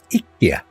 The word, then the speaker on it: IKEA: And we were talking about pronunciations, and you know, he was saying around the world they say IKEA, but in Sweden, the home of said company, it's pronounced IKEA. IKEA.